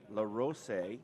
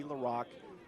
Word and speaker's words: LaRock: I said LaRose, and Utah correctly pointed out probably LaRock. Spoke with head coach, Salem head coach JT Heenan before the game, and he confirmed it is LaRock.